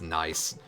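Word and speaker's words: gneiss: even talking about the the rock that's spelled g-n-e-i-s-s then sounds like it's pronounced nice although that would be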